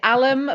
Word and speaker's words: Alam: I I normally say Alam but I don't know because that's not really the Indian pronunciation of it even though it's an Indian name so I mean okay